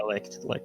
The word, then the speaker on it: Licht: I thought it was really good because the fight between Yami and Licht, is that how you pronounce that? Yeah, Licht.